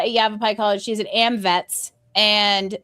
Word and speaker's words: Yavapai: And uh she is also an e economic developer at Yav Yavapai College.